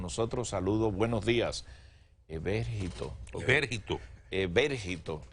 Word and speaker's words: Evérgito: Evérgito, acento en la E.